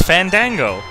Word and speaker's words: Fandango: It's Fandango.